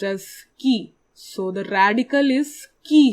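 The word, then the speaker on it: 木: So you can see if we remove the smaller hyphen on the bottom, then it's the symbol for tree, which is pronounced as ki.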